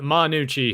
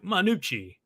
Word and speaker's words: Gnucci: or well because it's it's spelt uh gnu cci yeah so i guess you could say ganuchi yeah but it didn't